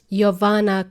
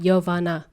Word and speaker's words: Jovana: somebody for a coffee you would say yoana coffee that's how pronounce that's how you can pronounce my name yovana you want coffee yoana coffee um so